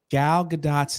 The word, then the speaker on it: Gal Gadot: Was mispronouncing Gal Gadot's name, and everybody was trying to help me in the comment section.